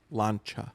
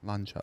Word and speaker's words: Lancia: Google says it's pronounced Lancia. Lancia.